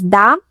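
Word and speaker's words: да: It looks like a little house, but it's pronounced D.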